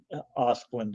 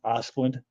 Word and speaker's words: Asplundh: name, and I believe the proper pronunciation is like Osplund or something like that. You know, the big orange company, the tree company, Osplund, ASPLUNDH, I think it is.